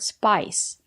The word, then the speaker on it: spice: It's called a spice rack. It comes from the word spice. We have the letter I and the silent E. We pronounce the letter I as the long I, like in hike and like. Spice. It's countable, so you can say